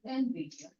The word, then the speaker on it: Nvidia: एनवीडिया क्या है वो, कैसे प्रोनाउंसिएट करेंगे उसको? एनवीडिया।